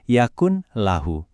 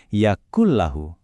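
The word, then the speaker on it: يَكُنْ لَهُ: Kita tidak membacanya yakun lahu. Bunyi n pada yakun itu langsung masuk ke lam, seolah-olah huruf nun itu enggak pernah ada. Hasilnya jadi yakul lahu.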